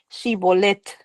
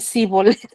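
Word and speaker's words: שיבולת: Y si le decían que sí, les decían, este, ahora pues di Shibolet. Entonces resulta que si no eran de esa región, no podían pronunciar Shibolet. Entonces decían Sibolet.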